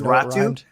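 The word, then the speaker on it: Räty: Right, but I know the last name rhymes with the first name, so it's weird.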